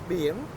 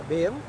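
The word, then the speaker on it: Biển: Bien. That's the name of the beach? Yeah, Bien.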